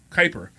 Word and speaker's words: Kuiper: I also want to thank our in-house producer, Keeper. Thank you so much. As always, Kuiper. I always get his name wrong.